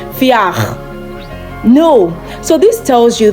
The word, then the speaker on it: vier: Don't pronounce this word wir. Don't do that. V in German is equivalent to the English F. So when you come across a word in German that has V in it, that V part should be pronounced as F.